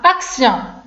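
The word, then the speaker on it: action: الوغ هنا اكسيون، لاحظوا كاينه اي او ان دونك غنطق ب سيون، اكسيون.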